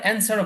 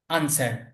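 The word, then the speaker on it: answer: এখানে দুই ভাবে বলা যায়, এই যে এটা আনসারও বলা যায় আবার অ্যান্সারও বলা যায়। অ্যান্সার এটা হচ্ছে আমেরিকানরা উচ্চারণ করে, আমেরিকান যারা আছে, যুক্তরাষ্ট্রে যারা থাকে এরা উচ্চারণ করে অ্যান্সার, আর যারা ব্রিটিশ এরা উচ্চারণ করে আনসার। দুইটাই সঠিক, যে কোনো একটা বলা যেতে পারে।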